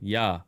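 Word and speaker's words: 八: That's why 8, the number 1 less than 9, was given the pronunciation ya, I believe.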